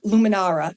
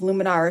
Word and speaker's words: Luminara: And Romain, he created Luminara.